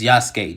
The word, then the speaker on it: Yasuke: It's Yasuke, just like Sasuke.